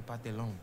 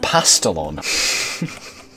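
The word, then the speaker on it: pastelón: Look, you have me a pantalon. Actually, I think it's pronounced pastelon.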